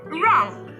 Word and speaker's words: wrong: And look at the word wrong. The sound made by letter W is not there. Look at the word rap. The sound made by letter W is not there either.